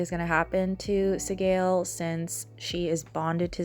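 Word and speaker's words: Sgaeyl: it and I was like is it like Sile or seal but it is pronounced seale at this point I decided to replace the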